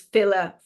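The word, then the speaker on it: filidh: the fil the SE that's spelled f i l DH is fill for plural and then f i for individual fill and so if after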